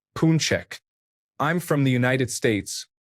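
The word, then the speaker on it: pączek: Pax is the singular form pronounced punchek.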